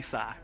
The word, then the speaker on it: Sigh: I do, and just call me Sai. Sai? How, Okay, how do I Sai. spell that? Sai. Who gives a damn? SIGH. Oh, okay. Shit. Alright. It's like sigh, like I'm sighing right now because What of would you like to eat?